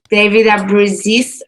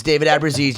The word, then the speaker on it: Ellefson: And I got to hear from David Ellefson. That's how you pronounce it? Yeah. Took me 25 years, but it's David Ellefson.